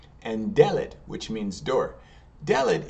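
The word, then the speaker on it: דלת: Delet, it's spelled just like dalet, D-L-T, but instead of the ah sound, which we have in dalet, it's going to be the sound, so delet, and delet means door.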